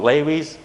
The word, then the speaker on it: Levi's: This is the 2 syllables, Levi's. It's not Levis, it's not Levi, Levi's.